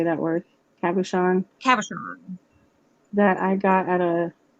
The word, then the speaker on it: cabochon: most people think so this is a beautiful kubotian how do you say that word cabochon that i got at a metaphysical store that's